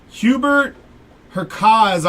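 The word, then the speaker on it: Hubert Hurkacz: Hubert Herkaz on the patch auto. We're going to go with a silent C on that one.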